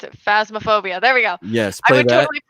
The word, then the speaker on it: Phasmophobia: totally play God, how do I pronounce it? Phasmophobia.